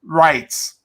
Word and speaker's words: rite: because i'll mispronounce it r-i-t-e-s rights not like you have a right but rights so there's the latin